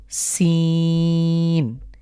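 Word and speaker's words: سين: সিন কিভাবে উচ্চারণ হয় এই লেটার নাম হলো সিন ইংরেজিতে আমরা এস এস যেভাবে উচ্চারণ করি ঠিক সেভাবে উচ্চারণ করব এরকম একটা আওয়াজ হবে সিন এই সিন যেখান থেকে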